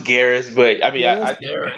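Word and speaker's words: Geras: doing good hey what's up yeah it's it's pronounced Garris but I mean it's okay Mortal Kombat oh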